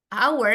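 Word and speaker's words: hour: Jadi di sini an itu karena our ini walaupun diawali dengan konsonan h, tapi dibacanya kan our, makanya dia pakainya an.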